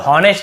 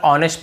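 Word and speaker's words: honest: ऑनेस्ट बहुत से लोग ऑनेस्ट ऐसे बोल देते हैं। तो ये भी गलत है। हमें केवल ऑनेस्ट पढ़ना है। एच को नहीं पढ़ना है।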